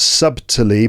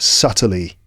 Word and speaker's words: subtly: case the adverb subtly notice that the B is silent it's not subtly but just subtly and not subtle but